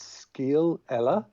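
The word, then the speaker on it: scéal eile: The name of that bar is Scale Ella. Scale Ella. This is the Irish pub that we went to in Japan. Okay. Yeah. Interesting. Skeel, it just rhymes with my first name, and Ella.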